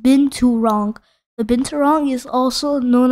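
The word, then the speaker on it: binturong: East Asia and Southern and Southeast Asia is pronounced been too wrong the binturang is also known as Barca is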